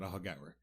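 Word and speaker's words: Aughagower: I'd like to tell you some facts about ahagawa and first how you spell it a u g h a g o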